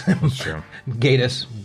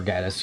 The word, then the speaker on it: Gatiss: wants to get, because Gatiss or Gaddis, or however the hell you say his name. No, it's Gatiss. You were right the first time.